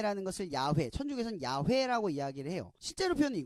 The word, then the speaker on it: 야훼: 천주교에서는 이 단어를 야외로 바꿨어요 그래서 이 정확한 발음은 야외 웬 데이 이아 회 라는 것을 야외 1006 있는 야훼 라고 이야기를 해요 실제로 편의 거구요 근데 우리는